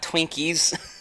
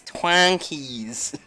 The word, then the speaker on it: Twonkies: gonna be no Jojo not Twinkies it's twang keys they even say it like that in the game it's twang keys but anyway are